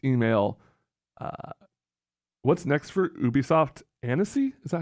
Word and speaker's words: Annecy: Annecy? Is that how you pronounce that?